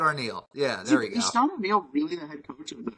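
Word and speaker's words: Scott Arniel: Scott yeah Scott arneal yeah there we go Scott arneal really the head coach of yes he is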